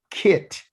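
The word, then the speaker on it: כי: And you say it like you're going to say the word kit or kip, but you're not going to put these last letters on it. It's ki.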